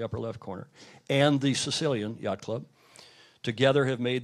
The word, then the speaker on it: Sicilia: Circolo della Vela Sicilia, I'm told that's pronounced, not Sicilia like we might, Sicilia, is that right?